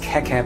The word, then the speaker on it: Keke: VG Awesome says it's pronounced Keke, but most people say Kiki. It doesn't really matter.